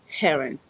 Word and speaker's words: Heron: Heron. You know, in French, we don't pronounce eight H's. We don't pronounce. So I would say Aaron, but it's Heron.